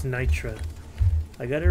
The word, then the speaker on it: Nitra: Not Morkite, it's Nitra.